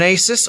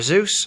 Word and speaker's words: Asus: I'm going for an Asus or a Zeus, depending on how you like to pronounce it. I'm pretty sure it's Asus, at least in Britain it is anyway.